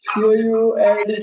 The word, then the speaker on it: could: pronunciation is incorrect it is not could it is silent हिवा l टा could हवा c o u l d could yes you got correct one could is